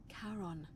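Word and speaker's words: Charon: c h a r o n as in karon the Fairman of the Dead karon who in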